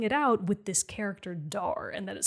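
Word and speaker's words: Dhar: the names and the locations oh is it dar it's dar isn't it it is okay oh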